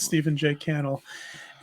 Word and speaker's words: Stephen J. Cannell: I think it's Cannell. I think it rhymes with panel. I've heard it pronounced both ways, but I heard him pronounce it Cannell. So I'm going to go with Stephen J. Cannell.